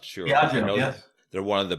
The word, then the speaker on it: Diageo: It was, I think it's pronounced Diageo. I'm not sure. Diageo, yes.